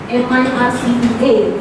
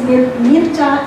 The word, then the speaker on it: Mircea: M-I-R-C-E-A is pronounced as Mircea in Romania.